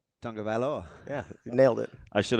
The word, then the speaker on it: Tagovailoa: Well, how is it pronounced? Tagovailoa. Tagovailoa.